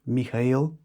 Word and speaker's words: Mikail: Um my name is Mikail. It's uh it's a Bulgarian name as you guys know. It's pronounced MK.